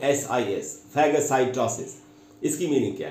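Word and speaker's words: phagocytosis: word बता आज का तीसरा वर्ड है दोस्तों फैग साइटोसिस इसकी स्पेलिंग बता द आपको पी एच ए जी ओ सी वाई टी ओ एस आई एस फैग साइटोसिस इसकी मीनिंग क्या है य ये भी एक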